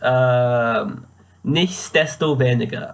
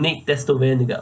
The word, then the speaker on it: Nichtsdestoweniger: I had not been saying it with the S previously, so I'd been saying nicht desto weniger without the S, and you can see that in my first draft actually.